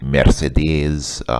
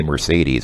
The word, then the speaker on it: Mercedes: I want to buy, she says Mercedes, which is obviously a Russian pronunciation. In English, we usually say Mercedes. I think the German pronunciation is actually Mercedes, but okay, let's not get picky.